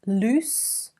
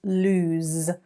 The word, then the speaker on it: lose: with loose double o use loose versus lose with a z sound at the end so loose is an